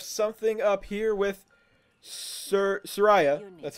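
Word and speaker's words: Suraya: guess we have something up here with sir Sariah that's how you pronounce her name Sariah Hawthorne civilization me at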